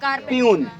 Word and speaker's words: peon: हूँ, आई एम आ प्यून, है ना, आई एम आ प्यून। प्यून means होगा चपरासी। क्लियर है? अब यहाँ पर आपको स्पेलिंग क्लियर रखना होगा, PEON।